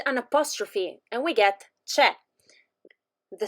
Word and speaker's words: c'è: sieta brandi and yamo we use che to say there is and chisono to say there are as you can notice our